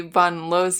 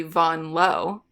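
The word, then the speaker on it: Vanloo: why we're pronouncing Julie Bon Lo's name like this uh it's because we're in France and that's how she pronounces it that's how people pronounce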